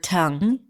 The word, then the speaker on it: tongue: So, as I said, you just need to let go of your mouth, of your jaw, of your tongue. Again, no G at the end. Tongue.